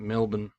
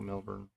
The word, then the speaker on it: Melbourne: I believe they they pronounce it Melbourne and they get upset if you call it Melbourne.